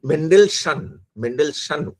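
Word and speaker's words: Mendelssohn: আরেকটা কথা তিনি পরে বলেছেন, সেটা ফার্স্ট এডিশনে ছিল না, সেকেন্ড এডিশনে অ্যাড করেছেন, যেখানে মেন্ডেলসন উচ্চারণটা MENDELSSHON, মেন্ডেলসন এর থিসিস, যেখানে পারসিস্টেন্স অফ দ্য সোল এটাকে খণ্ডন করছেন।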